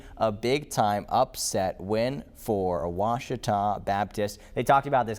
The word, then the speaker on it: Ouachita: big-time upset win for Ouachita Baptist. They talked about this game on College Game Day. I think it was Reese Davis, really mispronounced Ouachita, like a Wichita or something.